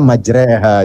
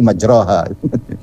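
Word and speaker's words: مجراها: Majro, bukan majre. Nah ada ulama bilang begini nih, ya karena itu di laut. Laut itu kan kadang ke kiri, ke kanan, maka bacanya majreha gitu kan. Tapi kalau di darat tidak dibaca majreha tapi majroha.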